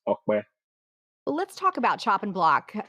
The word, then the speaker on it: Ope: I mean, everybody knows me as Opie, and I often, refer to myself as Opie as well. But the proper way to actually pronounce the short form of my name is Okwe.